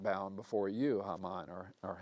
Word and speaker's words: Haman: the idea I'm not bowing before for you Hamman or or hmon as we pronounce it well angered by that Hamman somehow